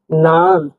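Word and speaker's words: нан: মানে ন উচ্চারণ হবে। উদাহরণ দিচ্ছি আমরা দেখুন নান। নান মানে রুটি। নান মানে রুটি। নান রুটি।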